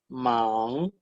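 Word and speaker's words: 忙: La primera, man, se pronuncia man en el segundo tono. Y como es un tono nasal, se tiene que hacer esa diferencia que existe entre la N y la NG.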